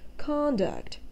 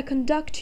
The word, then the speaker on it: conduct: the first syllable like conduct in the sentences may i conduct you to your table sir the above mentioned word has a second syllable stress thus we should keep